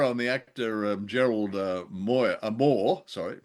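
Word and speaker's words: Mohr: But to be fair on the actor Gerald Moy Moore, sorry, pronounced spelled M O HR, but pronounced Moore.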